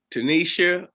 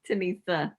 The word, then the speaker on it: Tenesia: of our real estate businesses on board with tanisha give me the correct pronunciation yeah it's okay it's tanissa tanissa with keys reality group and uh